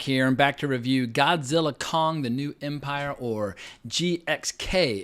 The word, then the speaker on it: Godzilla x Kong: to the flick but if you're saying the full title the ex is silent I read an interview